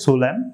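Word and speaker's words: solemn: দেওয়া থাকে তাহলে আপনারা এন অনুচ্ছারিত রাখবেন এন অনুচ্ছারিত করে বাকি ওয়ার্ডগুলোর উচ্চারণটি আপনারা করবেন তো সেই সুবাদে আমি এখানে যে দুইটি ওয়ার্ড লিখেছি তো সেই দুইটি ওয়ার্ডের সঠিক উচ্চারণ হবে সোলেম তারপর হচ্ছে ডাম দ্বিতীয় স্টেপেও আপনাদের সাথে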